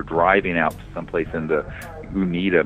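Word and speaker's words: Uinta: out someplace in the Unita mountains I think is how you pronounce them U nit ta and this thing floating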